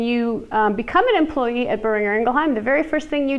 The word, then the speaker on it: Boehringer Ingelheim: It's burr like you're cold. Burr. Ringer like your phone. Ringer. Ingelheim.